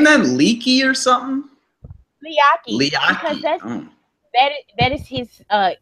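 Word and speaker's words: Leati: It's not spelled like Leaky. And there's a T in there. Oh, I don't know. Yeah. Yeah. Moans pronounce their T's, but his first name is Liaki.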